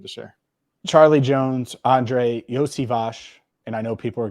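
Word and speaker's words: Iosivas: Charlie Jones, Andre Yosivash, and I know people are going to think it's something different. Yosivash is how you say his name.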